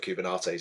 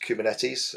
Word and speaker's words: Kubernetes: from a previous company used to call it kubernates and it was hilarious um I told him a few times it wasn't cold it's pronounced kubernetes um or kubernetes it's another one I've heard